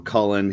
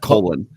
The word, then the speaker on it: Cullen: that you find from Cullen. He's, whoever's putting photos out there, and just try to remember those. Like, how do you say his name here? You want to Cullen, not Colin. Cullen.